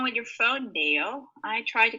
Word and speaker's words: Dale: Okay, try to pronounce Dale with an A sound. Dale. Dale. Dale. Good. Because if you say Dell, Dell's like Dell computer, Dell. Okay. But this is Dale.